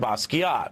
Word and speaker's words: Basquiat: just search melber and Basquiat b-a-s-q-u-i-a-t the t is silent like lasagna but you can go